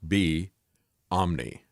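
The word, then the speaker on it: Beomni: way they pronounce that it is actually like b omni right as in everywhere or everything and um but it also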